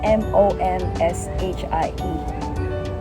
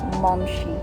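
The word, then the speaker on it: momshie: Oh, What about M-O-M-S-H-I-E? How do you pronounce it? mumshi. Momshi.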